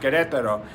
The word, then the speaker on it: Querétaro: and I am in querétaro Mexico properly pronounced cadet Thoreau and I'm staying at